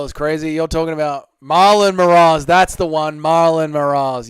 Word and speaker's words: Moraes: Moraes, as it's pronounced, you Australian scum.